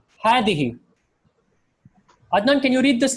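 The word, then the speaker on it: هذه: Same with hadihi. So there's no alif written after the ha. So it's written like ha, fatha, dal, kasra, ha, kasra. But when you're actually reading it, when it's being pronounced with an alif. So this is pronounced as hadihi.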